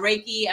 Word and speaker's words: reiki: with debbie barker the reiki a master yes and for those who don't pronounce is reiki like you're raking leaves reiki master yes um